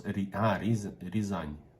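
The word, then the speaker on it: Рязань: We pronounce Rizan, all right.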